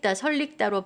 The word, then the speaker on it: 설익다: 자, 설익다는요. 설릭다로 발음이 돼요.